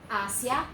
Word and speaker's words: Asia: Asia, 2 syllables only, syllable, syllable, Asia, okay? 2 syllables, not 3 like in English.